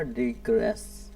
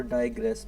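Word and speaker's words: digress: इसे हम डिग्रेस भी बोलते हैं और डाइग्रेस भी बोल सकते हैं। डिग्रेस और डाइग्रेस, इसकी प्रोनाउंसिएशन मैं बता रहा हूँ। डिग्रेस और हम कह सकते हैं डाइग्रेस, दोनों इसकी प्रोनाउंसिएशन है।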